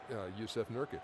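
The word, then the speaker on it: Jusuf Nurkić: Jusuf Nurkic.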